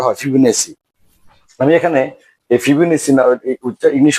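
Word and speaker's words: Fibonacci: number এখন বর্তমানে যে অষ্টম শ্রেণীর প্যাটার ওখানেটাকে ফিবুনাকি সংখ্যা নামে এটাকে লিখিত হয়েছেফিনাকি যেহেতু বাংলা এখানে তোমার ব ফিনাকি আছে ফিবনেও পড়তে পারো কিন্তু আমাদের উচ্চারণ ইংলিশে এটা উচ্চারণটা হয় ফিবনেসি আমি এখানে এই ফিবুনেসি ইংলিশ উচ্চারণটাও লিখেছি আর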